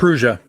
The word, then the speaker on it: Prusa: Prusa.